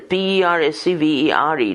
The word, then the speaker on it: persevere: Dash, persevere, P-E-R-S-E-V-E-R-E, dash, accented on the second syllable, persevere.